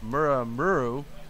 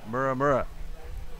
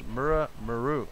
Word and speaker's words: Muramuru: And it says, LOL, the coach is Muramuru, not Muramura. So it's Muramuru.